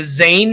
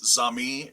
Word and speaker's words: Zami: on this one, the Zane hymns, Zane. Is it Zane? Is it Zani? How do you pronounce that? Z-A-M as in Mike, I, it's Zami.